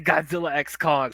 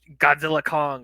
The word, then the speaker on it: Godzilla x Kong: it it sounds cool to say Godzilla X Kong so like for me it's like now adjust my brain to say it's Godzilla Kong I'm like okay sure